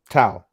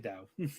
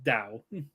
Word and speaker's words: Dao: Tau. Dao, it's actually Dao. Oh, I thought they say Tau. But it's spelled like Dao. It's spelled like Dao, but it's pronounced Dao.